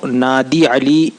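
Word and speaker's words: نادِ علی: کو اجازت دیتا ہے۔ یہ ناد علی میں دال پہ زیر ہے اور عربی لہجے کے حساب سے معروف پڑھیں تو نادی علی ہوتا ہے دال کے زیر کے ساتھ، اور عموماً ناد علی پڑھتے ہیں جو مجہول لگتا ہے، تو صحیح طور سے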